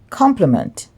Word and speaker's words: complement: This word is pronounced complement. Complement. But I believe in Jamaica we say compliment. So we emphasize the last syllable, but they're actually pronounced the same.